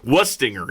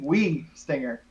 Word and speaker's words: Wuistinger: It's Wuistinger, yes? No. No! It's German. You got to go E. Wii-stinger.